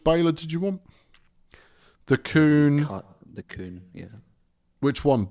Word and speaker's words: Kuhn: It's Kuhn. For crying out loud. We can be careful, but at the same time, that's how it's pronounced.